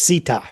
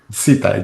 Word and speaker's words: Szita: So there's no Z sounding in there. It's Szita. Szita, just like that.